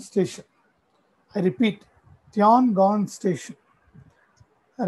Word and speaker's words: Tiangong: How do you pronounce this? Tiangong Station. I repeat, Tiangong Station.